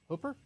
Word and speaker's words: Hooper: and Hooper yes now if you've just moved to Utah and you hear Hooper you might think that's spelled h u p e no no no no Hooper is h o o p e r Hooper mhm perhaps you've just moved but it's hoer yeah if you move to